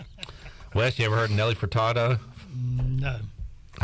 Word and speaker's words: Furtado: Bryce's pronunciation of Nelly furtarda now I'm doing it Nelly Furtado is amazing oh it's uh there's no R for tata for Furtado farted that sounds kind